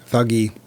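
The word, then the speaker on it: Thuggee: Thuggy. I've heard Thuji. That's where we get the word thug. Yeah, but that's because of mispronunciation. Never heard it pronounced anything but thuggy, but that's okay.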